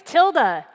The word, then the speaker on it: Tilde: doing today my name is tilde that's pronounced like Tilda Swinton or like the little squiggle on your keyboard I'm a developer evangelist